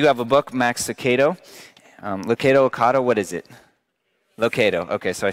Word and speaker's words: Lucado: Lucado, okay, so I said it right.